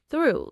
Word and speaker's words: through: Through, like I walked through the door. And in through, the o u makes an oo sound. Through. Rhymes with blue or true or new.